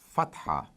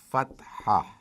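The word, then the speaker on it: فتحة: show the equivalent of A, which is called fatha. Fatha. I hope now those who have been practicing their alphabets would be able to pronounce this word a little better than before. Fatha.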